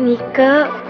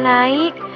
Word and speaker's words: Nike: Astagfirullah Bapak, ini teh Nike, bukan naik. Emangnya teh nama saya nama merek sepatu apa? Ya, sama aja lah, N-I-K-E itu dibacanya naik. Bapak, ini teh Garut, bukan Amerika. Jadi teh bacaannya Nike, gitu.